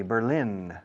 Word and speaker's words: Berlin: The first one, B-E-R-L-I-N, the capital of Germany, Berlin. Yeah? Berlín, como suena, igual en inglés que en español. Berlin.